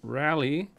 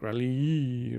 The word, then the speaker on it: Rallye: And in green, we have the 1974 Dodge Challenger Rallye. I don't think you pronounce it any difference because it has the E. It's not like Rallye or anything.